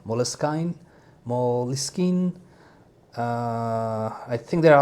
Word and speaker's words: Moleskine: So what I found out a little bit, that this is originally an English word, and the original pronunciation is Moleskine. I think it's Moleskine. And then when it had some French influence, it switched to Moleskine.